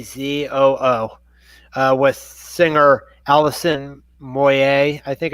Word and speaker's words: Moyet: Yazoo why a CEO Oh with singer Alison Moyet I think it's pronounced mo ye t leaving a group future